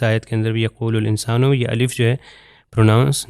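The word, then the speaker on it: الإنسان: اسی طرح یرید الانسان، یہ الف سائلنٹ لیٹر ہے، تلفظ نہیں ہوگا.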